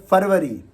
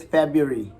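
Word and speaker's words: February: This is नॉट the right pronunciation. The right pronunciation would be जनवरी। जनवरी नहीं, जनवरी। इसके बाद फरवरी नहीं है, ये लिखते हम किसी और तरीके से, पढ़ते किसी और तरीके से। इट्स फेब्रुअरी, फेब्रुअरी, फेब्रुअरी।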